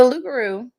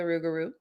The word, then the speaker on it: Loup Garou: were occasions though now the lugaru or the ruguru depending on who you are and how you say it has spawned a lot